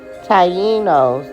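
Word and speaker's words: Taíno: Tyenos. That's how you pronunciate it.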